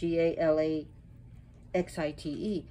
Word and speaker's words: Galaxyite: quebec canada as galaxies and that's what he called it gala x-ite however there is a